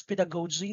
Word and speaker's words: pedagogy: thrill is more on the pedagogy so you pronounce that as pedagogy that is not pedagogue zina that's pinagoji that